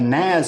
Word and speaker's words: NAS: office environment where you all work together, a NAS is a fantastic product where everybody can connect to it. It's pronounced Nas.